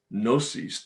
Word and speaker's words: gnosis: different words an agnostic the word comes from greek gnosis the g is silent g-n-o-s-i-s which means knowledge